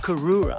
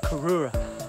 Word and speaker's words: Cooroora: I found this one Mount Cook ooh karora i think they pronounce it Mount Aurora and I'm about to